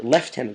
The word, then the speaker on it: lieutenant: time face Lieutenant surge left tenant surge rather because even this game pronounced it wrong it's left T and surge so um until next